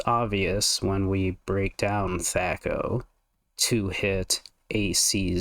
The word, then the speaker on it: THAC0: Let me tell you about THAC0, or THAC0, or even THAC0 as one of my cousins pronounced it. THAC0. Two-hit AC 0.